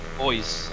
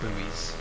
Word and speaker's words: buoys: Boys, as they are pronounced, not buoys, as the Americans call them.